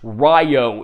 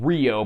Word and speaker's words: Ryo: and Sage Rio retained his name but it's pronounced Ryo in the dub although oddly in the dub of the ovas they go back to saying Rio but everyone else retains their English dub names